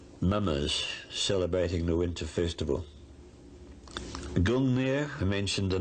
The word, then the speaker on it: Gungnir: We think that perhaps it might have been pronounced in those days Ungungnir, maybe. It's Gungnir in historic times.